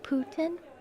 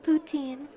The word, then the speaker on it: poutine: It is poutine. It's okay. Maybe I can do like poutine. Poutine. It's Quebecois. The correct pronunciation is poutine.